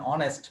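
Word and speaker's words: honest: যেমন এন অনেস্ট person, তাহলে এখানে এইচটা উচ্চারণ হচ্ছে না, অ এর মতো করে উচ্চারণ হচ্ছে, সে কারণে এখানে কি হবে এন হবে।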